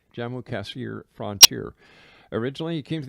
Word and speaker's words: Jammu-Kashmir: of his true purpose while posted at the Jammu-Kashmir. Is that how you say it, Jesse? That's correct. Jammu-Kashmir frontier.